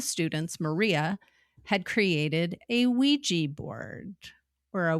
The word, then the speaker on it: Ouija: One of the students, Maria, had created a Ouija board, or a Ouija board if you want to pronounce it as it's spelled.